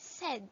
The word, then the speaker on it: said: Next, S, A, I, and D, which sounds S, A, E, and D. We pronounce it as said.